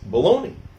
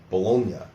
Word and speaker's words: Bologna: Now in Italian the correct pronunciation was probably closer to Bologna.